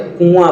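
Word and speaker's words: कुआँ: अनुचित है गलत है आप जब इसका उच्चारण करें तो कुआ बोलते हैं कु तो साधारण है आप बड़ा आ के ऊपर चंद्र बिंदी का इस्तेमाल करिए कुआ ठीक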